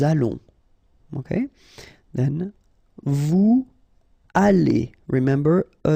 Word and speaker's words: allons: Nous allons, remember, final S not pronounced. O and together, it's on. And then we'll make this little link between the two, what we call the liaison. Nous allons.